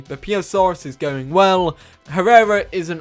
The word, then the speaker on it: Beipiaosaurus: Beipiaosaurus. Beipiaosaurus. Apparently that's how you pronounce it.